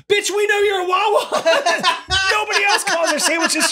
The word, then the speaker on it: Wawa: Bitch, we know you're a Wawa. Nobody else calls their sandwiches shorties. It's like you didn't want to call out Wawa. I went to a convenience store. Rhymes with ha ha.